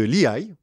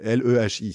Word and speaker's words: Lehi: Non, mais parce que L-E-H-I, ça s'écrit. Ah, d'accord. Moi, je le prononce Lehi à l'américaine, quoi, tu vois.